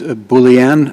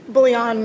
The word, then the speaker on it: Bouillon: Ms. Boulian, am I pronouncing that correctly? Bouillon, Your Honor. Boulian, okay. Like bouillon cubes.